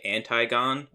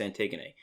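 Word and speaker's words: Antigone: It's spelled like anti-gone, but it's pronounced antiggony.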